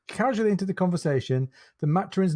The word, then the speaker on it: Maturin: name matroninova you know it's maturing with an H in it but pronounced you know Maturin because at the time